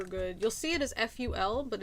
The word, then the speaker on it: ful: you'll see it as ful but it's also f-o-u-l but it's not pronounced foul and it is not